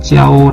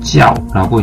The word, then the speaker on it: 教: 지하고 가 되게 되는데요 일상으로 g 하오 라고 발음할 수도 있겠고 4 성으로 지하 오라고 이제 발음을 할 수도 있겠습니다 개성으로 발음할 때는 요 단적으로 사용해서 가르치다 라고 하락 의미로써 사용될 때 그대는 이제 일상으로 발음을 하구요 다른 설 자 하편 와서 이제 그 명사 로써 사용될 때는 이제 4성 녹지 없다고 이제 발음을 합니다 그 예를 들어서 교실을